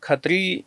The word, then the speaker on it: खत्री: देखिए, खत्री जो है, खत्री शब्द पंजाबी में श जो है साइलेंट है, अगला क्षत्रिय से खत्री है जी। श को हटा दिया जाता है, और खत्री जो है पंजाबी में उसको क्षत्रियो को खत्री बोला जाता है।